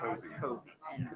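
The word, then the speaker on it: COSE: When we chartered Cozy, it's Cozy, that's how Kathleen said it.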